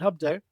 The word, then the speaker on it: HubDo: I started it in 2015, and HubDo, which a lot of people mispronounce as HubDo. They're like, is it HubDo? That's HubDo, because it's do more on HubSpot.